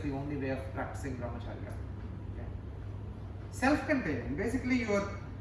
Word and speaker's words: Brahmacharya: Brahmacharya is a very Brahmacharya. Four syllables. Brahmacharya. Brahmacharya. Brahmacharya.